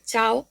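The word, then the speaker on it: ciao: Digamos que es como un una pronunciación un poco más fuerte, no sería como leeríamos en español que serían sí o c, no os doy el ejemplo de chao, hola o adiós o che.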